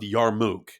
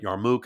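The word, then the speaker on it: Yarmouk: Yarmmuk is what I most commonly heard it said on the internet.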